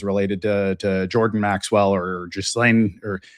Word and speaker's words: Ghislaine: There's been a lot of speculation as to whether Gregory Maxwell is related to Jordan Maxwell or Ghislaine, or I believe it's pronounced Ghislaine if you're the French speaking.